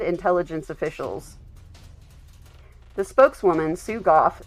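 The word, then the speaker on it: Gough: Goff said H. And that is spelled G O U G H.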